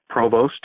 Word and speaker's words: Provost: victor Oh s T Provost or Provo as it's pronounced you can also go